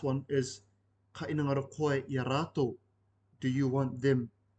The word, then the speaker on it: iaratou: If you replaced iaraua with iaratou, this is spelled I-A space R-A-T-O-U, this refers to 3+ people. So this is ka inangaro koe iaratou, do you want them, 3 people plus.